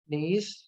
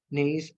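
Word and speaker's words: gneiss: Other than that quartzite and नेइस, इसमें जी silent है. नेइस and also finally quartzite.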